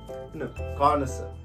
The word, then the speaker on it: connoisseur: आपल्याला ही सवय आहे, तर दिस word is कॉनसर, कॉनसर, नो, means this is ka as usual and this is na only, and this is sa, and this ra is into bracket as usual, ra is silent.